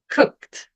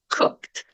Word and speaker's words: cooked: Cooked. Porque o K é um som mais forte na garganta, dá a impressão que está saindo o som do E, mas não, você não pronuncia. Cooked.